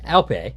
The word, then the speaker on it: Alpay: Alpay, sorry. Pretty sure that's how it's pronounced.